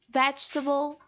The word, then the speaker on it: vegetable: have the same problem the letters in the middle the vowels in the middle that we don't pronounce so vegetable comfortable these words they are